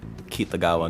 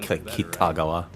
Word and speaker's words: Kitagawa: That is not how you pronounce that. Kitagawa, not Kitagawa.